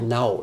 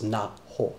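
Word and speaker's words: Naho: I had her name wrong earlier. I was calling her Now. There's a lot of, Now is a common girl's name, and I thought it was Now, but I didn't hear it. It's Na-ho. Na-ho. It's two syllables.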